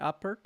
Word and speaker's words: Apert: I'm pronouncing it correctly, Apert.